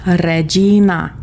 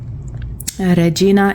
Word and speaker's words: regina: And then regina. This is you're going to have to roll the Rs. Regina. Regina is queen.